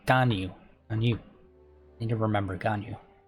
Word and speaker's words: Ganyu: I always pronounce her name weird because I can never remember how they pronounce it. Ganyu. I always think Ginyu from Dragon Ball Z. Ganyu.